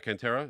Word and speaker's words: Cantera: And to do that, I have a very special guest with me today, and it's Cantrell. I did spell it say your last name right, Cantrell?